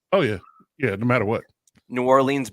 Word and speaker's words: New Orleans: New Orleans begs to differ. Sorry, Narlands is the proper way of saying it.